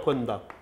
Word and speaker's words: 번답: 근데 읽을 때는 반답이라고 읽지는 않습니다. 이거 번답이라고 읽으라. 번답. 왜 번자냐 이게. 이거는 이두문자예요. 그래서 이두문자이기 때문에 반으로 읽으면 안 됩니다.